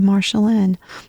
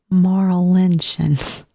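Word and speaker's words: Marlinchen: girl's name wrong um my brain just decided that her name should be marshallan but it's not it's actually maral lynchin yeah dyslexia I guess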